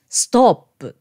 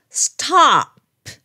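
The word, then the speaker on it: stop: で書くのでボクスストップてあのそう読んでしまう人が多いですけど実はねこれおじゃなくてほとんどの場合あと発音します子供がなんかしでかした時に言うのもストップじゃなくってストプね随分違いますよねその他の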